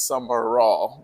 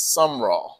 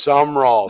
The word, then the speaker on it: Sumrall: The inclination is just to say your name is Summer Raw, but it's some raw. It is Sum Raw. Two syllables.